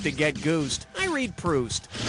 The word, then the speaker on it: Proust: who wrote remembrance of things past was Marcel proust as in when I'm Juiced I need a boost to get goosed I read proust all right coming at you I can't